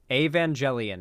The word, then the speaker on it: Evangelion: see e a vangelion Evangelion is how it's pronounced okay if you say